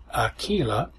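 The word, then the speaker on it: Akeelah: The title to the 2006 movie was Aquila, spelled A-K-E-E-L-A, that's Aquila, and the B, that's spelled B-E-E.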